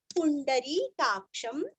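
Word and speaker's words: पुंडरीकाक्षम्: पूरा, यद भक्त्या पुंडरीकाक्षम, पुंडरी पूरस्व, ण बाण का, री दीर्घ, क्ष के ऊपर अनुस्वार का उच्चारण आधा म, पुंडरीकाक्षम, स्तवैरैर, स्तवै, व के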